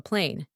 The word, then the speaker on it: plane: make a trick and add silent letter e to the first word now we get different word with a different meaning in pronunciation at first it was a plan and now we have a plane we can even say